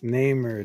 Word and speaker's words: Namor: I think that's the way Stan Lee would say his name. It's Namor, the Submariner.